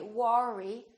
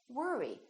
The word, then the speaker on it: worry: I go to work or worry don't say worry say worry don't worry another one is word